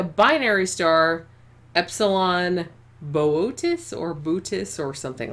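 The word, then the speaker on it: Boötes: Our home is Epsilon Booties." Yeah, Bootis. Epsilon Booties. I'm just going to say it like that. I know that's not how it's pronounced.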